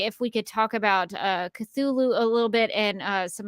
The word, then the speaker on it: Cthulhu: I generally say it as Cthulhu. That was the one that sounds rightest to me.